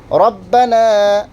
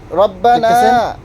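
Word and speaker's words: رَبَّنَا: রব্বানা লাকাল হামদ, রুকু থেকে উঠে দাঁড়ানোর পর রব্বানা লাকাল হামদ, এখানেও রব্বানা লাকাল হামদ, হাম পড়লে হবে না, রব্বানা রব্বানা আলিফ জবর লা, এক আলিফ লম্বা হবে, রব্বানা কেউ করবে না,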